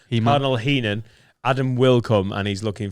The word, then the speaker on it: Heenan: don't want to and cardinal heeman he men said it wrong heenan adam wilcome and he's